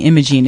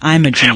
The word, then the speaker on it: Imogene: And I'm glad you corrected me, because I'm saying Imogene, it's Imogene.